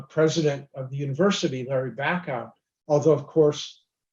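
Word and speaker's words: Bacow: of the university larry back out although of course big bird being big bird pronounced his name bacau and they had to uh to spend a while getting that straight um but uh eventually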